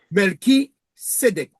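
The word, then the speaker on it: Melchisédech: Melki Sédec. Ah, Melchisedec. Ok, d'accord. Voilà. Mais on dit Melchi, mais c'est pas Melchi, c'est D'accord, Melki. c'est Sedec. Voilà, Melki ou Melri, c'est un kaf. Melki Sédec.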